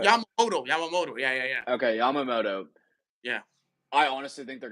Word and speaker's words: Yamamoto: Before I embarrass myself and say his name wrong, it's Yamamoto. Yeah, I struggle with this still too. Yamamoto. Yeah. Okay, Yamamoto.